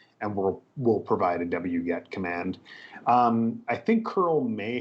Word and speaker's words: wget: also add into that so many of us pronounce it wget but there are other pronunciations out there on the internet like we get so if you hear some of our instructors saying um saying we get they're referring to the same tool as w-g-e-t-w-get so um